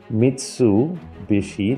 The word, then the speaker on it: Mitsubishi: and he she but when it's pronounced in the middle of a word or it's pronounced with a b so he she actually